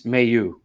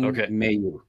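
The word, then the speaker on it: Mailloux: from right from the source there uh it's Mayu Logan Mayu yeah that's how he grew up you know uh pronounce his name was pronounced and that's how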